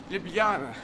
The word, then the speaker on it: Ljubljana: so as you say the J is a yes sound and then it's Libya libyana J it's actually a y I think l-y-u-b is hard for English speakers yeah we're very good